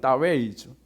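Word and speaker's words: 大衛: 중국식 발음은 다웨이죠.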